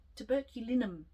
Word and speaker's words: Tuberculinum: is a homeopathic and I will try to say it as it is meant to be said. Tuberculinum. Tuberculinum is how I say it. It's basically how it's spelled.